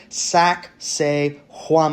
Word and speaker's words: Sacsayhuamán: Sac say huan. I know it sounds like sexy woman. It is not.